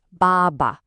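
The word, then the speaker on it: 爸爸: This word is bàba. Notice the tones here. The first syllable has that falling tone, ba, but the second one is light and neutral with no tone mark at all, ba. So together it flows like this, bàba.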